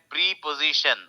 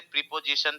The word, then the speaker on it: preposition: ठीक है, अब ये जो वर्ड है प्रीपोजिशन, आप लोग बचपन से प्रीपोजिशन प्रीपोजिशन बोलते आए होंगे, लेकिन इसका उच्चारण होता है प्रेपोजिशन, प्रेपोजिशन, जी पे स्ट्रेस है, प्रेपोजिशन, प्रेपोजिशन, राइट।